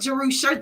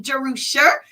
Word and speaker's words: Jerusha: That's how to pronounce my name, Jerusha. It means inheritance is in the Bible. It's a derivative of Jerusalem. Everybody knows how to say Jerusalem, right? Yes. So it's Jerusha with an E-R.